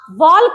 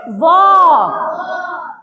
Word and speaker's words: walk: यहां है डब्ल्यू ए एल के। वॉल्क नहीं पढ़ेंगे। इसको पढ़ेंगे वॉक। एल साइलेंट हो गया ना?